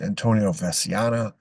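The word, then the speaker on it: Antonio Veciana: Veno Venia uh sometime some I've heard it pronounced different ways Antonio vasana vasana that's usually the way it's pronounced so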